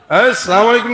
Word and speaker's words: আসসালামু আলাইকুম: আসসালামু আলাইকুম কি আবার উচ্চারণ করেন আমার সাথে আসসালামু শুরুর হামজা আর শেষের মিম আসসালামু আলাইকুম আসসালামু মানে কি জানেন